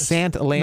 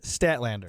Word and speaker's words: Statlander: ruby soho and uh chris sand attends sant lam no no no chris statlander stat lander yeah i said that wrong and i knew i